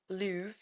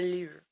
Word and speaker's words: Louvre: At the Louvre That's how you're supposed to Museum. roll your R's in French. You're supposed to do it with the back of your tongue.